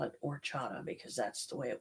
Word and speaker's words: horchata: I found out about the lovely horchata here, which people pronounce it horchata. The H is silent. So I call it horchata because that's the way it was spoken to me.